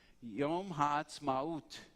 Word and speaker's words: Ha'atzmaut: Yom Ha'atzmaut, not Maut, Maut.